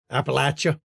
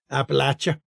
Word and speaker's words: Appalachia: Appalachia, as they like to call it. Appalachia. You got to pronounce it Appalachia.